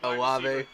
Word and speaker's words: Olave: Olave.